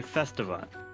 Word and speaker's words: Festiva: Festiva, is it A, Festiva, or B, Festiva? The second one, say it like festival.